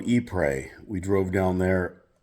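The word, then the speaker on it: Ypres: speak that we went to a place called e-prey we drove down there y p r e s is how you spell it if you want to look it up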